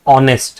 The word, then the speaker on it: honest: H is not a vowel. But see when you pronounce this word it says honest right?